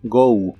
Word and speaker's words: go: y usaremos el verbo Go que significa ir se pronuncia como si terminara con una u go go y usaremos